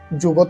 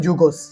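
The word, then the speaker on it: זוגות: যুগত অর্থ হিব্রুতে জোড়া। আশকেনাজি ইহুদিরা উচ্চারণ করেন যুগোস।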